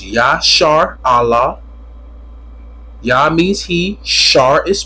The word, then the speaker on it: Israel: If you're an Israelite, which the word Israel means, the word Israel broke it down, pronounced YASHARAHLA.